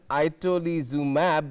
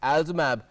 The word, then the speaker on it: itolizumab: It's spelled as itolizumab, but it's pronounced, I guess, as Alzumab.